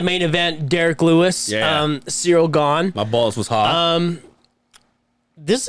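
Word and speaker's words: Ciryl Gane: Cyril Gahn.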